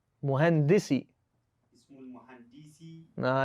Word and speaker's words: مهندس: No, don't make a long D. Make a short dal on muhandis. Muhandisi.